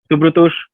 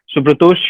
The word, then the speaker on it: Shubhratosh: Shubhratosh, Yes, sir. can you hear me? Yes, sir, I can. Shubhratosh, am I pronouncing your name correctly or there's an alternate pronunciation?